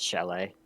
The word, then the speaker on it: chalet: It's chalet.